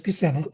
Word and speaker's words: Buscema: Like the first person that popped to mind was Sal Buscema. Uh-huh. Uh, did I pronounce his last name correctly? It's Buscema, I believe.